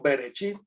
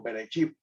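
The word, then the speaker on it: בראשית: Entonces, su lugar único en el canon, Génesis, cuyo término griego significa principio, llamado Bereshit en el hebreo, es una palabra, es la palabra como se pronuncia en el hebreo, Bereshit, por los judíos, en el hebreo que significa en el principio.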